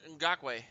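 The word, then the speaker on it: Ngakoue: The new defensive Oh, end, uh, Ngakwe.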